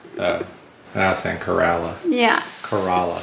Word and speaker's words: Corolla: to Kerala we made it how does she pronounced it Corolla Kerala it's Kerala oh that's in Kerala yeah it's Corolla or at least that's how